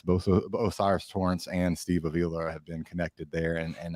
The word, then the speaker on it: Avila: that yes, Torrance, yes, Steve, how do you pronounce his name? Steve Avila. Yeah, Avila, the guard out of TCU.